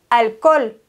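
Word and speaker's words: alcohol: sag nicht l Alkohol das H ist im spanischen immer stumm also sagen wir el Algol EL AL gool das H wird im spanischen nicht gesprochen bestimmt kennst du dieses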